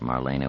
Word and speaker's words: Marina: "Not Molly," thought Marina with anguish. Marina, Marina, Marina, three syllables, accent on the second, grown up.